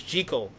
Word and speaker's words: Jekyll: And that was um an interesting thing too in it they they pronounced Jackal as Jel. So it it took the next movie to really make it uh the more standard pronunciation and that next movie